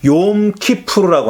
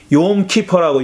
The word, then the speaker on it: 욤키푸르: 그것도 어떤 날 바치는 거냐면은 유대인들에게 아주 중요한 절기인 대속죄일 욤키푸르라고 하는, 욤키퍼라고 요즘은 뭐 영어식으로 그렇게 발음하죠.